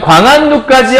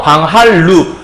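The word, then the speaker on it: 광한루: 그래서 어떻게 되는 거냐면 원래 글자가 광, 한, 루라는 글자였잖아요. 이때 니은과 리을이 만났을 때 요 리을이 니은으로 이렇게 바뀌면 안 되고요. 얘가 리을로 바뀌어서 광할루 이렇게 얘기를 해야 된다라고 설명하는 거죠.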